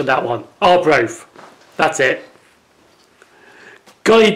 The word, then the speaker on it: Arbroath: Probably at that last station I'll probably have to work my pronunciation on that one. Arbroath.